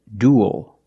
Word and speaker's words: duel: pool and cool duel and it ends with a dark L because the L is after a vowel at the end of a word duel this is a